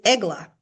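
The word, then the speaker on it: עגלה: So there is another word that is written Ayin Gimel Lamed Hey, but it has different vowel pointings, but it's pronounced differently. It is eglah, okay?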